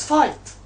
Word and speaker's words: fight: Because gh does not have a sound. GH is are silent when we have I before it. When we have I before GH so gh is silent.